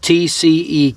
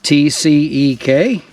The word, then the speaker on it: TCEK: is by company called TC K this is the newest chair that they sent me and they've asked me to pronounce it TC K I always called it t-c but this chair swivels